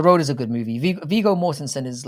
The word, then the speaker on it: Viggo Mortensen: Viggo Mortensen is like, that's how you pronounce his name, is a very fine performer.